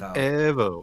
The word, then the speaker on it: Evo: You said it wrong. Oh, Evo. What? No. Evo. You got to say it in Italian. Evo.